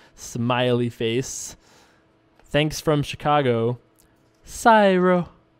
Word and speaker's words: Syro: Syro. Pronounce it right, I dare you, smiley face. S-Y-R-O. How isn't that Syro? I mean, it could be, I guess, but I think it's Syro.